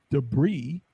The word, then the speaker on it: debris: what to do because this is debris but it has an i and an S but then if I'm